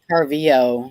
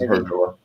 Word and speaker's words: Harvilla: Yeah, That's right, because I pronounced it incorrectly. yeah. You said Parvio or whatever. Harvilla, yeah. And it was Harvilla.